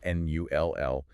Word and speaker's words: null: Which is a gift to English speakers, spelled N-U-L-L, pronounced null. It's a cognate, so it shares the same root as English. Can't really mess that one up.